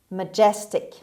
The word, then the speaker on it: majestic: number two majestic majestic majestic as you see the stress is on the second syllable on g sound majestic means a the